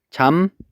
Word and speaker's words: 잡목: 잡목은 발음하면 잠목이라고 발음이 된다고 했었죠. 그러면 요 비읍이 결국에는 미음으로 바뀌었습니다.